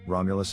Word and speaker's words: Romulus: the progenitors of rome in latin their names are pronounced with the accent on the second syllable romulus and remus in the early 19th